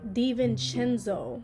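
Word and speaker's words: DiVincenzo: I was there but his name is pronounced Dante Devan chenzo de chenzo and like granted I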